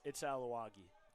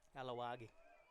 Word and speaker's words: Aluagi: There's been 3 different pronunciations for this kid's last name. It's Aluagi. Aluagi.